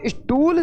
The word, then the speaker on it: स्टूल: जब हम स्टूल शब्द का उच्चारण करते हैं तो स से पहले ई ध्वनि का उच्चारण हुआ था, वो जो ध्वनि का